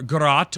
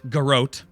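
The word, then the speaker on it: Garrote: I'm just kidding okay I always pronounce it grot but I know it can be pronounced gr and the the guot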